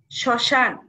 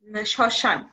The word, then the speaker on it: শ্মশান: স টা উচ্চারণ করছি তেমনি আছে শ্মশান উচ্চারণ হবে শ্মশান স এর সঙ্গে ম উচ্চারণ হবে না শব্দের প্রথমে ম থাকলে